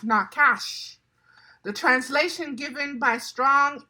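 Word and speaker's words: נחש: It's pronounced nakash.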